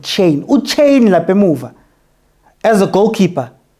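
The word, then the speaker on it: Chaine: Apparently that's how you pronounce it, Chain.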